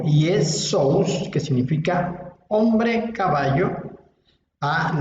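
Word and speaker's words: Ἰησοῦς: En griego, como hemos visto, como vimos hace un momento, en griego el nombre se pronuncia Iesous. Iesous.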